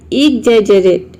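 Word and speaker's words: exaggerate: इसमें जी को हम ज प्रोनाउंस कर रहे हैं, जी को कहीं पे ज प्रोनाउंस करते हैं और कहीं पे ग प्रोनाउंस करते हैं।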